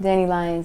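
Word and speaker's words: DaniLeigh: And is it DanilLeigh? Oh, I said it right? DanilLeigh, yeah.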